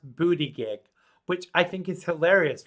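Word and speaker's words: Buttigieg: But you know how they how you actually pronounce that? It was on a news show here. His family was saying, no, this is the funny thing. It's pronounced booty gig, which I think is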